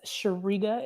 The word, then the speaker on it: Shariga: Shariga is how you pronounce it, phonetically Shareega. Shariga.